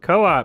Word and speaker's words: Co-op: Co-op, there Coop. It is. It's pronounced Coop.